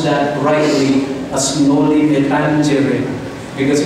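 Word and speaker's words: Noli me tangere: isinulat niya sa Noli By the way you pronounce that rightly as Noli metangere because it's a latin word no metangere okay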